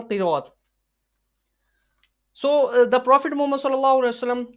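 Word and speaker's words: ث: Be, te, se, he, he, toy, loy. So it is according to the Urdu grammar. It is according to the Urdu grammar. So some Pakistani people read as, instead pronounce them in the following way: ba, ta, sa, ha, ho, tho, wo. So it is according to the Arabic grammar.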